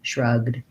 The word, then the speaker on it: shrugged: and then shrugged good we don't do any vowels on there we just go right from the g to the d shrugged he shrugged it off